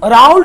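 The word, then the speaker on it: Raoult: अब आइए यहां पे, अब राउल्ट ने वेपर प्रेशर में के बारे में कुछ बताया, बेटा जी यहां ध्यान दीजिए, अब इसी में हम देखेंगे राउल्ट लॉ।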